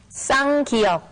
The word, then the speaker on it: 쌍기역: 쌍기역, 쌍기역, 쌍기역.